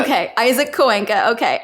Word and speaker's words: Coenca: And I like heard you like stop and you're like, wait, do you know how to say it's Coenca? Okay, Isaac Coenca. Okay. It's a Spanish last name.